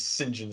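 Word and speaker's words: St John: like they're like you know identities as James Sinjin Smith and uh which is like interesting actually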